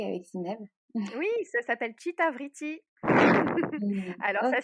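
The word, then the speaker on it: Cita Vriti: Oui, ça s'appelle Chitavriti. Alors ça Ok.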